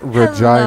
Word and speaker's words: Regina: Of course I know it's these It's pronounced Regina.